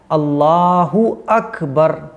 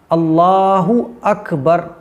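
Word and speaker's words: الله أكبر: अब दोनों को जब आप मिलाएंगे तो हो जाएगा अल्लाहु अकबर। अकबर अकबर, कुछ लोग अकबर नहीं अकबर, अल्लाहु अकबर। तो ये सही प्रोनाउंसिएशन है, अल्लाह अकबर ऐसा नहीं।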